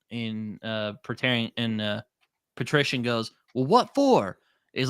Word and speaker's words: Patrician: is it petarian or is it petarian the the leader of uh ank more oh the Patrician the Patrician thank you when the Patrician and